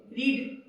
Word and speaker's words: read: हमेशा बताती हूँ रीड रेड रेड, लिखते रीड रीडिंग है, बट हाउ डू you pronounce it एज, we pronounce it एज रेड।